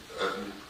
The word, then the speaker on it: Utton: My name is Utton. Last name is spelled U-T-T-O-N. It's just like Button, but there's no B.